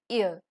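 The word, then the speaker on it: yeux: eyes so eyes in French is known as ear ER you X here that's it for today's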